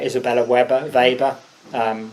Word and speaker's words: Weber: someone like Isabella Weber vber um not sure how you pronounce it she's German so probably vber um is another